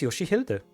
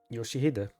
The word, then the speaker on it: Yoshihide: of our sinners, can also be read as Yoshihilde, which is what the little girl confused here. So, that's why I said I'm going to be absolutely devastated by this Canto. 요시대라고 읽는 거다. Yoshihide.